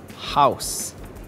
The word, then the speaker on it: house: words are mouse and house these words are tricky because the last letter e is silent when II follows oh you we don't pronounce the letter e instead we say mouse and house tricky words following in